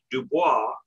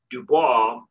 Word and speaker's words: Du Bois: Du Bois, William Edward Burkhart Dubois, I pronounce it Du Bois, but it's actually probably pronounced Dubois.